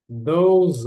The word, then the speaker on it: those: Those are. Eu vou juntar aqui. O E aqui não é pronunciado, né? Fica those, a pronúncia.